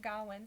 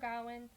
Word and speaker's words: Gawain: we also read so my teacher pronounced at Gowen so it was Sir Gawain and the Green Knight I think is what